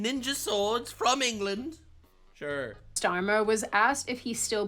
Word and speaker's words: Starmer: You're saying it right. Starmer. Kier Starmer. Starmer. Starmer.